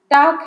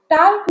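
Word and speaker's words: talk: अंग्रेजी में देखिए कुछ अक्षर साइलेंट होते हैं, जैसे टाक है तो TAL के होता है, तो यहाँ उच्चारण की सुविधा के कारण टाल्क नहीं पढ़ते हैं, टाक पढ़ते हैं, अर्थात ल को साइलेंट कर देते हैं।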